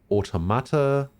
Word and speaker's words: Automata: Wait, why do I pronounce it automata? Probably because I'm taking it from the word automatic and just replacing the IC with an A.